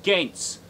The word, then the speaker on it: Gaines: Max Gaines, originally in the old country, it was spelled G-A with umlauts N-C. It's pronounced Gaines.